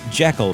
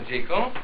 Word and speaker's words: Jekyll: Scottish surname is really Jekyll. Stevenson borrowed the name from his good friend, famed British horticulturist Gertrude Jekyll. Common conjecture states that the choice of this name that rhymes with seek-all is a clever bit